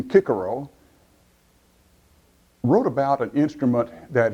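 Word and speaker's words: Cicero: back to post abdominus cícero or as he would have pronounced his name kicker Oh wrote about an instrument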